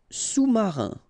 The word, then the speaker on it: sous-marin: Sous-marin. Okay, so EN here. Un, rein, marin. All right, and remember, sous, okay, final S not pronounced, so S-O-U, sous, sous-marin.